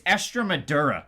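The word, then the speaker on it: Estremadura: Extremadura is what his name is. I mispronounced it in all of that video, but Extremadura, Achilles Extremadura, the Canadian, he wasn't able to get it going.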